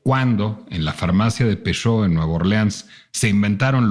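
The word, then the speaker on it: Peychaud: Y vamos a echarle 2 chorritos de bitters de Peugeot. Peugeot se escribe P-E-Y-C-H-A-U-D.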